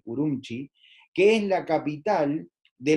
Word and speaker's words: Ürümqi: y luego tenemos a ürümqi que se pronuncia así por un chi que es la capital